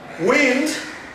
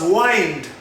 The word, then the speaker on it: wind: into the pool finally wind can also be pronounced as wind how a strong will blow across the plane a strong wind blew across the plane how else i had to wind up my speech currently i had to wind up my stitch hurricane we will do more